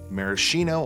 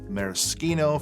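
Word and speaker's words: maraschino: It includes sugar, lime, grapefruit, marishino, or mariskino for you pronunciation a-holes, and Trader Vick's my Thai rum.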